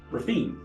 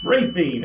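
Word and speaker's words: Raphine: it is okay so when I look at that I would say uh rafin that's what it looks like to me when I would say yeah raping especially with the accent on that first show you gotta get ray in there okay exactly good old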